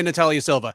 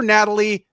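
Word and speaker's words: Natália Silva: Natalyia Silva that is as straightforward as a Brazilian fighter name gets. Everyone can say Natalyia Silva. He called her Natalie before and after the fight.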